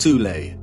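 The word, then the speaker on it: Thule: Germany called the th Society sometimes alternatively pronounced tulle that had subactions within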